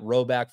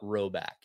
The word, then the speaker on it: Rhoback: If you guys haven't already, it's time to load up on that Roback for both you, yourself, significant others, your buddies, whoever it is.